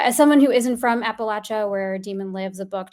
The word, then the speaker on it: Appalachia: Um so a long time and uh as someone who isn't from Appalachia where Demon lives, a book helped me see